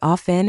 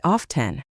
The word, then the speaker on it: often: Some people say often and some say often. Honestly, both are 100% okay.